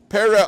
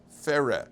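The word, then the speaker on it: פרא: Pera Adam. What does it mean, pera? Now you'll notice phonetically, pera, the peh, soften the peh. What is it? Fera, right? Fera, like free.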